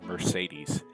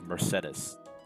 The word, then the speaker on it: Mercedes: to everyone around her i hate how they pronounce that name they don't pronounce that name as mercedes they pronounce it as mercedes or mercedes it's really annoying annette is baron dominic's